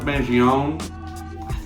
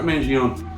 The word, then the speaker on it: Mangione: this pull um and also this one Chuck Mangione that's how you say his name I've never known how to say his name Chuck Mangione jazz legend and uh pretty cool record I